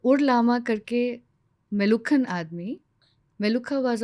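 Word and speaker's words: Meluhha: एंड how this word appeared जो मेलुहा मेलूहा अमीष त्रिपाठी जी का जो नवेल आया ना मेलूहा उन्होंने फेमस कर दिया actually it is pronounced S बेलुखा मेलुखा double ख है उसमें सो इन वन ऑफ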